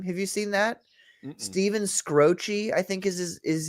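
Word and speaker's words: Skroce: Steven Scroce, I think is his is his name. The way you pronounce it.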